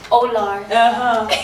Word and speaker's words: Oolar: Oolar. Okay, the R should be pronounced.